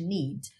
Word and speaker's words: need: mesmo tá bem agora lembra sempre mesmo que eu tivesse tempo se esse n fosse a última palavra da minha linha o que eu não posso fazer nunca nunca nunca é tá colocar uma outra vogal depois desse D se ele aparecer muito vai ser Need Need tá é só o